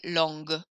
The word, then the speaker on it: longue: I hear the G sound more, longue.